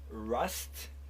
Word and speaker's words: Rust: Mamy dwóch znakomitych artystów z Montrealu, duet Rust, R-U-S-T. Very Rust, good. yeah? It should be pronounced like this. Before was a roost. Or you Yeah. roost. Or roost in French, okay?